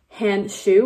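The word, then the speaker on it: Handschuh: German the way that you say glove is hand shoe which literally means hand shoe and I know it's like pronounced the same thing which is actually pretty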